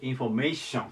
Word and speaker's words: インフォメーション: 最後がインフォメーションですインフォメーションこれアクセントがここにきますインフォメーションで日本語で